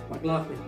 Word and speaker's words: McLaughlin: Maklolin. Are you next? McLaughlin. Daddy. The right answer is... Are you sure with that? What? McLaughlin.